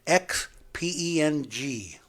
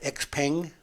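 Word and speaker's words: XPeng: what i don't or i don't know if i'm saying this word right it's spelled it's chinese and it's spelled x-p-e-n-g is that x peng i think yeah x peng is a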